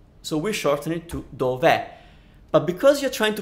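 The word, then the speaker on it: dov'è: too many vowels so we shorten it to Dover but because you're trying to pronounce the verb e is it's pronounced e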